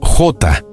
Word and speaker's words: Jota: Diogo José Teisheira da Silva, conocido simplemente como J, una pronunciación portuguesa de la letra J.